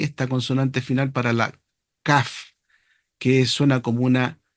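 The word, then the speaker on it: כ: La Kaf no tiene este dagesh, este punto, porque se pronuncia como una K.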